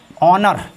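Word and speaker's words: honour: Silent H, H plus O एन बराबर H silent. Silent H के दो rule बताऊंगा। रूल नंबर 1, जैसे ऑनर, ऑनर मीन्स होता है सम्मान या इज्जत।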